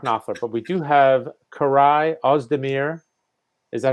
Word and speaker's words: Koray Ozdemir: we don't have Mark Knopfler, but we do have Koray Ozdemir.